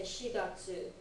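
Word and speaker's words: 四月: And then you've got, oh, special pronunciation for April, you've got to say shigatsu. It doesn't use yon.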